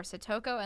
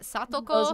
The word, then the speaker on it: Satoko: So specifically the two names that I do not pronounce correctly in the videos are Satoko and Satoshi. They should be Those Satoko were hard.